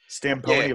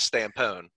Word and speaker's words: Stampone: That is in fact, the Metagon way to say it. The actual way to say it is Stampone. Which way do you pronounce it? Oh, the E is silent.